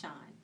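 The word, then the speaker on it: Shan: Totally, Shawn is spelled S-H-A-N, and it is pronounced Shawn.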